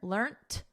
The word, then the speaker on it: learnt: So notice we have a soft T here, learnt. And then in American, learned with a soft D, learned.